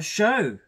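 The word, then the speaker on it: Cho: good okay and our show the the love interest of harry potter look at that show i'm pronouncing it right it's show it's not show all right um just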